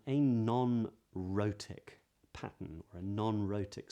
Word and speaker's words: rhoticity: today's lesson is on something called rotic not rotic that's very different but rotic and this is the